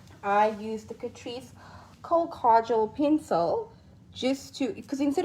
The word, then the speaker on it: kajal: Okay, so it's kajal. That's how I pronounce it. I keep wanting to say kajal, but like, I don't know.